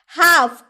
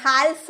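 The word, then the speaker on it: half: भी आप बोलते होंगे हाफ एफ का पहले एल है एफ का पहले एल है तो हम उसे हाफ बोलते हैं हालफ नहीं बोलते हाफ यानी कि आधा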